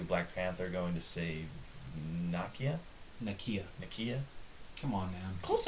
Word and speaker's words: Nakia: It's Nakia.